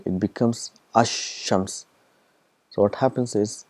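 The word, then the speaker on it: الشمس: It becomes ash-shams. So what happens is, the al is written, it becomes silent, and the sound of sheen is doubled. This is ash-shams, so 2 times.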